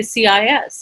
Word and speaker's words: cis: know how to say cis and eris pointed out to me to say this uh cis is pronounced pronounced ci is pronounced as cis it means cisgender the